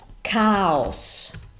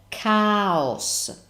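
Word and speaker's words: caos: email that's the same meaning but the different pronunciation via okay parola numero and that's cows now I know in English this has a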